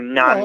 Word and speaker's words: naan: obviously i needed rice naan bread or none bread as it's actually pronounced and bread i got